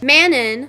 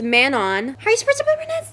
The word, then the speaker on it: Manon: for mannon which Manon people are saying it's Manon how are you supposed to pronounce how are you supposed to pronounce that that doesn't just roll off the tongue Manon rolls off the tongue the people in the podcast they had a strong emphasis on the on when they would say it so they